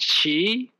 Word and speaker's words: qi: why did is um this is Chinese war for cheat okay pronounced she and now Kearney's qi used to call chii so those are exactly